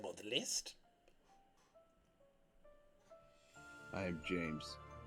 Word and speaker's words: James: the list I am James did you know your name rhymes with names I do is that